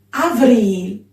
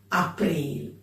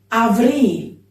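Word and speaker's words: Avrîl: Avril. No april. Avril.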